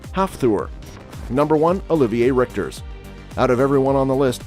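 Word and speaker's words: Hafþór: those who are curious his first name is pronounced half Thor number one Olivier Richter's out of everyone on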